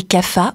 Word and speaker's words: Kapha: Et Kapha, ou Kapha, hein, ça dépend de la région de l'Inde où on le prononce.